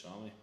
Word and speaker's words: SAME: Spelled S-A-M-E, same, but it's pronounced Sammy.